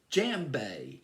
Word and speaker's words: djembe: It's called the first instrument he learned how to play was called the djembe. Djembe, I believe, is how you pronounce it.